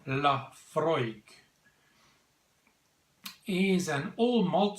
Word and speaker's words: Laphroaig: it's got an ABV or 43% yes 43% pronounced Laphroaig he is an all malt scotch whisky from